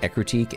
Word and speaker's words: Ecruteak: I think it is pronounced Ecruteak, and I've said this before. I don't care. I think Ecrutech sounds way better than Ecruteak.